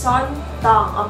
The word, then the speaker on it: Song Mino: Yeah, that's how it pronounced Song Mino.